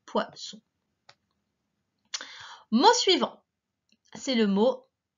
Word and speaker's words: poisson: Alors cette fois, pour faire le son S, on a besoin de deux S, puisqu'il est entre le I et le O, deux voyelles. Et si on n'en mettait qu'un, ça ferait le son Z.